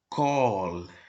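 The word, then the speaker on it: כָּל: A palavra tudo se escreve com o kaf mais o kamatz, que ele aqui é katan, tá bem? Mais o lamed. Então, sendo assim, lida como call, tá bem?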